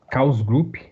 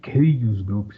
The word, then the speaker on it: Chaos Group: fazer uma conta na Chaos Group, né? Tem algumas pessoas que pronunciam Chaos Group, mas eu acho que é invenção de brasileiro. Eu falo Chaos Group mesmo, tá?